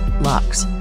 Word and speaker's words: Lucchese: the luk crime fam family pronounced lux is one of the